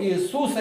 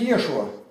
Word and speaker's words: Иешуа: А почему тогда Иисус, сказать смешно будет, мы получили от греков, а у греков алфавите ше нету звука. И они все, у них не существует.